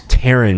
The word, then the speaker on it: Taryn: articles that karen actress taryn manning holy crap her name rhymes with karen she goes on and